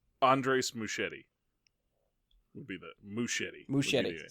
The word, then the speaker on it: Muschietti: Andres Muschietti would be the Muschietti. Muschietti. So there's no idiot. Yeah. There's no Ieti there, no. All right. It's Muschietti.